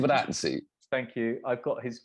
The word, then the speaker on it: Giovinazzi: Fabrizio how do you pronounce his last name? Giovinazzi.